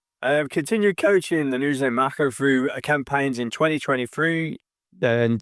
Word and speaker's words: Mako: Marco like the shark.